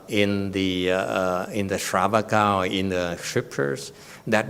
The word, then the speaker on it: shravaka: monk okay it doesn't it's pronounced it's shravaka not sriracha you you like sriracha